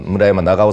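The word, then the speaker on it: 村山長挙: のその下の村山長尾さんと読むんだけど長教って書い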